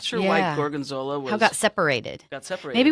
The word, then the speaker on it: gorgonzola: say something oh I was just thinking of Jorgen Zilla two Gorgons well yes that's a good one gorgonzola gorgonzola and it is a blue cheese people